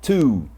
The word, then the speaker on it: two: Então, não é tu, não é two, mas é two.